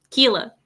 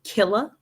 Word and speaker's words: Keela: Keela. Keela. Mhm. The American way to say his name is Killa. Killa. Yep. But you guys call him Keela just because I call him Keela.